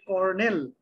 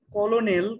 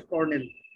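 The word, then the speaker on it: colonel: মুখস্থ করবে আর কি বানানটা হবে হচ্ছে CORNEL কিন্তু উচ্চারণটা হবে কর্নেল দেখে মনে হচ্ছে কলোনেল কিন্তু আসলে হচ্ছে কর্নেল এগুলো সব ভুল এগুলো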